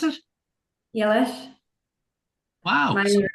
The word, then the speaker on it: Eilís: Pronounce it? Eilís.